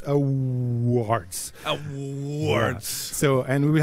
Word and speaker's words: Awwwards: Awwwwards. Awwwwards. And it's super easy to pronounce for me.